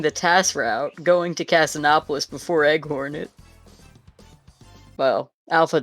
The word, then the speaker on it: Casinopolis: Is it actually pronounced Casinopolis? I don't Isn't know it? how it's pronounced. I'm just saying words. I guess it makes the most sense, right? Because you don't say Casinoopolis. There's no double O in...